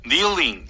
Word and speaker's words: kneeling: 우리가 리딩을 하면 kneeling 다 보면 알아요. K-N-E-E-L. 근데 이걸 눈 감고 들어보면 못 듣는 분들이 계십니다. 리스닝은 들어서 이해해야 리스닝이죠. 그래서 kneeling, knock 이런 단어와 또 아주 중요한 토익 파트 1 단어 있죠.